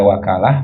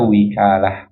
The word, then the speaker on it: وكالة: Al-wakalah yajuzu bi fathil wawi wa kasriha. Boleh dibaca wakalah, boleh dibaca wikalah. Tapi wal fathu as-sah, fathah lebih fasih. Kita bacanya al-wakalah.